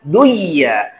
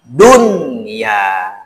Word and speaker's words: dunia: Tapi ketemu dalam satu kalimat, dibacanya jangan diidgham, jangan diidghamkan, jangan dimasukkan, jangan dibaca duya, tapi harus dibaca dunia.